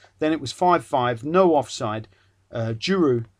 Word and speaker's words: Giroud: Giroud, not Giroud, but Giroud played Pogrebniak. See, I managed to pronounce it.